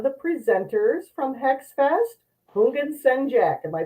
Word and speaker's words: Houngan: Today's guest is one of the presenters from Hex Fest, Houngan Sen Jak. Am I pronouncing your name correctly? It's like the H is silent, so like Houngan. Houngan.